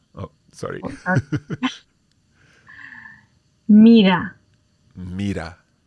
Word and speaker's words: mira: Now, again, if you imagine that there is a double T sound in there as a New Yorker, and you're thinking of the word bottle, then that bottle, you could replace that in for your single R.